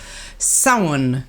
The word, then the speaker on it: Samhain: November the 7th it's the astrological point of Samhain. That's how you pronounce it, apparently.